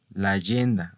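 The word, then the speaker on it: l'agenda: la yenda la yenda Recuerden que se lee todo todo junto la yenda así se pronuncia la yenda verdad Entonces que es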